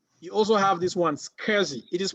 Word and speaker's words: SCSI: have sas drives you also have this one scurzy it is pronounced cursing take note of the pronunciation because you hear this a lot it's not s-c-s-i yes don't say s-c-s-i please please please please